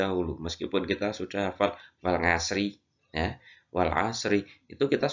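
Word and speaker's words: والعصر: Wal ashri. Wal ashri. Itu kita lancarkan terlebih dahulu meskipun kita sudah hafal wal asri, ya.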